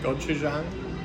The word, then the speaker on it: gochujang: Okay, this is the newest Spam, and how do you pronounce that? Gochujang. Gochujang?